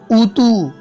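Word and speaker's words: أوتوا: यह अलिफ नहीं पढ़ा जाता। याद रखो, लफ्ज़ों के आखिर में वाव साकिन के बाद आम तौर पर हमें अलिफ दिखता है, जिस पर कोई निशान नहीं होता, न ज़बर होता है, न जज्म होता है, न दो ज़बर होता है, कुछ भी नहीं होता। तो अलिफ बिल्कुल पढ़ना नहीं है।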